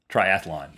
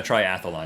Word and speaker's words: triathlon: No, triathlon. It is not a triathlon. It is a triathlon.